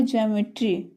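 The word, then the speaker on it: geometry: हो गया रेखा गणित तो इसमें क्या आ रहा है जी ई हो गया छोटी ई जी आ तो छोटी ई और आ का उरण इया का उच्चारण आ रहा है जिया इ के बाद ओ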